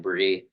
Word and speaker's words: Bry: My name is pronounced Bree, not Bree.